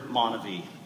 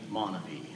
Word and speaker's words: MonaVie: while others pronounce the word monavie for me it will always be monavie the good life or